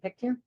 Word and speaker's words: Pictou: Pictou? Did I say it right? Yeah. Pictou, right?